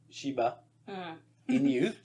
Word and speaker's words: Shiba Inu: But these are beautiful, purebred, Shiba Inu.